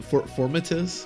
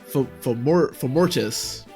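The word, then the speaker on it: Fomortiis: Formatus? I'm not sure. Oh no, it's Formortis.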